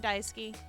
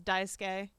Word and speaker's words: Daisuke: between you Cal and dyskey I think I've been saying his name wrong I think it's Daisuke Daisuke yeah Suk makes a